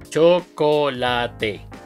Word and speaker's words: chocolate: Recuerden la palabra chocolate. En español tenemos cuatro sílabas. Chocolate. Y en inglés, chocolate, dos sílabas.